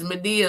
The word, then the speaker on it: Medea: And it's Medea like Tyler Perry's Medea, but it's spelled a little differently.